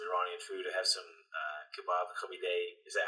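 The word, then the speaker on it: kabab koobideh: I have some kebab kabideh.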